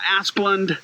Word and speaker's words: Asplund: Well, if you're my ex-wife, you might emphasize the first syllable, but that's correct. You'd probably spell it with two S's instead of one as well. So, yeah, Asplund is fine.